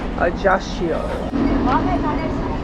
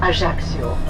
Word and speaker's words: Ajaccio: pronounced like an SCH, Ajaccio. And when we speak French, you know that in French language the pronunciation is nearly always on the last syllable, so we say Ajaccio.